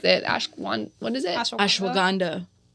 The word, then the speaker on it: ashwagandha: I mean, I don't even know how to pronounce it. Ashwan. What is it? Ashwagandha.